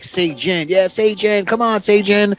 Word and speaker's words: Sayjin: Oh, come on, say, and they'd be like, Sayjin.